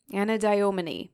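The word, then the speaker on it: Anadyomene: artist aelis to create his painting Aphrodite anadin anadin yes that's how you say it which depicts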